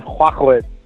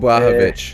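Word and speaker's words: Błachowicz: You know, I'm gonna focus on Jan Huakwit. How do you say it? How do you even say his last name? Casper's Polish, so he's got it for you. Yeah, Jan Blachowicz.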